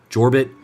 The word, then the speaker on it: Jorbit: It's, you pronounce the J in the first name, Jorbit, and then it's Bibas, like B-E-E-B-A-S.